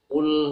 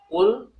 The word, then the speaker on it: qalqalah: Ya seperti yang sudah sering kita dengar ya, misalnya pada surat Al-Ikhlas ya, Qul huwallah, Qul huwallah, Qul, Qaf. Ya, pengucapan seperti itu sudah termasuk berqalqalah.